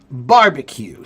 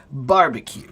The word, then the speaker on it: barbecue: Oh, you are correct, but actually it's barbecue. So the accent is on the first part. Barbecue.